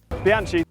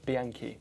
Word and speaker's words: Bianchi: I also got a lot of feedback on my pronunciation of Bianchi. Bianchi, so there we go, Bianchi, corrected it, hopefully.